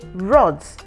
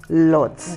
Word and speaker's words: rods: sells iron LS so she wanted to say rods but she kept on saying Lots okay then we also